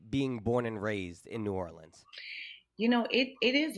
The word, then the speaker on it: New Orleans: I read that you grew up in New Orleans. That's how the locals say it.